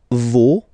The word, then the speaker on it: vos: leur, okay, so remember, even if you've got this final S, you don't pronounce it, as it was the case already for this word. No, you don't pronounce the final S.